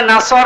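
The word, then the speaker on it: نصر: এখানে সাদ আছে, নাসর মানে সাহায্য, আর নুন সিন র নাসর মানে ঈগল পাখি। আপনি যদি মুখটা গোল করে শুদ্ধ করে উচ্চারণ না করেন, অর্থ আকাশ পাতাল পাল্টিয়ে যাবে। আল্লাহ পাক বলেন ইযা জাআ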